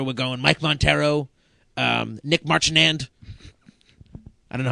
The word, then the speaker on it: Marchand: We're going Mike Montero, Nic Marchand. I don't know how to pronounce his last name. Marchand. Yeah, sure. Marchand. And not just your name, Nick. Jivin. Wait, isn't that French? Marchand. That's French.